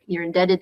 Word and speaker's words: indebted: You're indebted to them. You owe them. So B is silent. Yeah, B is silent there.